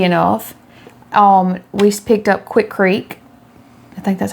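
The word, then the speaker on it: Quikrete: Um we picked up Quickcrete. I think that's how you say it, Quickcrete. Quickcrete, yes.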